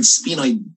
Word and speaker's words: sphenoid: trans spinal Okay technique pronounce Again the word sphenoid sphenoid starts with what letter s that's found on your